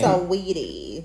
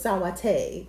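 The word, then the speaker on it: Saweetie: Sweetie. Yeah. Did y'all see how Tracy Ellis Ross thought to pronounce her name? How? She thought the whole time her name was Sawate.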